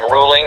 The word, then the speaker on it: Ruhling: the author and the last name is ruling spelled with an H it's r-u-h-l-i-n-g as you see here